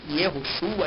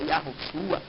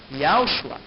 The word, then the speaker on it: Yahushua: traduzido para Josué, né, que na verdade é Yahushua, e nem Yehoshua, Yahushua, e sim Yahushua, pois nem mesmo os